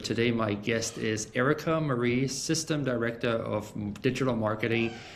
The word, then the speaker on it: Mary: It's spelled m a r y. Yeah, I got a little tripped up here. So, Erica, you got me straightened up, right? Yep, it's Marie.